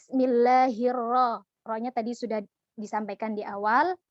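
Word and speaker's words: بسم الله الرحمن الرحيم: Kayla lainnya kepanjangan itu Mad Thobi'i nya terlalu panjang padahal Mad Thobi'i yang seharusnya dibaca panjang itu adalah satu alis saja tuh kesalahan umum yang sering terjadi dan seringkali tidak kita sadari maka cara pengucapannya adalah Bismillahirrohmanirrohim kemudian ketika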